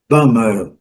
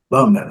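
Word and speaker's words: bomber: Bombardeiro, bomba, né? Que trabalha com bombas, é bummer, bummer.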